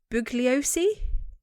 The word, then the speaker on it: Bugliosi: So during Manson's family trial, his prosecutor Vincent Bugliosi, I'm pronouncing that right?